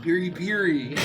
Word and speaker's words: piri piri: Oh, it's actually pronounced piri piri.